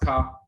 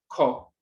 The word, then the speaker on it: Ka: In the Coptic dialects, pronounced Ka. As you can see down here, Ko, Ka or Ko.